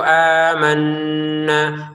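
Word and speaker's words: آمَنَّا: Amanna, panjang karena ada alif. Nun bertasydid tahan dengungannya 2 harokat. Amanna billahi wa bil yaumil akhir. Amanna tahan dengungannya. Jangan sekedar amanna ya, tahan.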